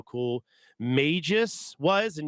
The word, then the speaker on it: Magus: cool Magis was and yes that's how I'm going to pronounce it for the remainder of the stream go ahead and at me I'm not calling him Magus I don't care what you say it's Magis because they're magicians not magicians um or frog